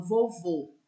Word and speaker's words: vovô: Olha para vocês verem a diferença quando eu falo vovô. O O do último vô é fechado.